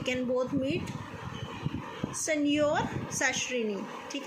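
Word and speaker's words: signor: ठीक है, इसकी प्रोनाउंसिएशन होगी सेनियोर।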